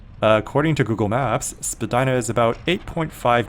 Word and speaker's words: Spadina: streets in downtown Toronto originally pronounced Spadina taken from this ojibway word that I'm not going to try to pronounce meaning high place or Ridge Spadina Road stretches